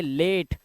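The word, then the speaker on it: late: ई आया हुआ है ऐसे ही एल ए ए के बाद एक कंसोनेंट है कंसोनेंट के बाद ई है तो इसे पढ़ेंगे लेट इसे पढ़ेंगे रेट और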